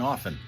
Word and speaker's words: often: And yes, I say the R in February, and I don't pronounce the T in often.